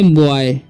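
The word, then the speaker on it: boy: इसे पढ़ेंगे बॉय, ठीक है, बॉय, यानी कि यहाँ पर H साइलेंट है, ठीक है।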